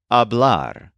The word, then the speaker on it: hablar: normal AR pattern is exemplified by today's verb abl which means to talk or to speak the infinitive of the this verb is spelled h a b l a r as